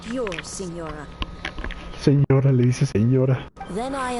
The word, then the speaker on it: Signora: Si ignora, pues se pronuncia señora.